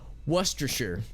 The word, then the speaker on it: Worcestershire: so it's so it's worcestershire worcestershire worcestershire i've heard of warchester or like hold on let me think about this there's an extra syllable that you don't say out loud in that word as i understand it